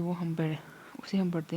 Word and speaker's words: वा: Letters की pronunciation को बिल्कुल नहीं भूलना, वाओ है तो इसको गोल करेंगे मुंह को, वाओ खड़ी ज़बर वा, ये नहीं बोलना, वाओ खड़ी ज़बर वाह नहीं बोलना।